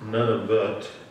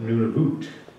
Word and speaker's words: Nunavut: Not pronounced Nunavut, but Nunavut.